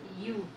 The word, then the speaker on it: utensil: U in utensil is read U. Therefore, utensil begins with a consonant sound.